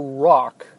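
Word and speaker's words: Rauch: And that's Joe Rock. I believe that's how he pronounces it or how he pronounced it.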